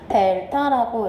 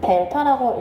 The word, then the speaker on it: 델타: y의 증분 이거를 기호로 뭐라고 나타낸다?요 요 세모는 뭐라고 읽으시면 되냐면요. 델타라고 읽어 주시면 돼요. 얘는 델타라고 읽어 주시면 되고요.